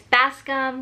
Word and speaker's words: Bascom: name long enough so yes it's Bascom like fast like the fish and come like c'mere that's what I'm going